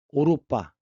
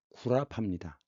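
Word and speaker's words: 歐羅巴: 오이로바 그 영어로 유럽인데 오로빠 이것을 한자로 쓰면 뭐가 됩니까? 중국 발음은 오로빠지만 한국어와 한자음은 구라파입니다.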